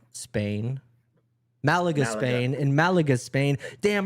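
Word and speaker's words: Málaga: So, Blading Camp is an all-inclusive skate experience in Maaga, Spain. Malaga, Spain.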